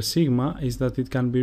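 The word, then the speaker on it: Σίγμα: Sigma, which is pronounced su, and the sample word is chocolata, which means chocolate. A thing to remember about the letter sigma is that it can be written in two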